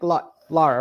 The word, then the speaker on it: Laura: And so, for someone who, you know, just like Laura, right? Not Lara. I think I was pronouncing her name wrong the whole time on your birthday thing.